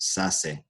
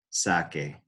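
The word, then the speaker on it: saque: a C right there, that would be pronounced sase. Cool word, but that's just not how you do it. So we have to change that C to QU to preserve that hard C sound, that K, that K sound.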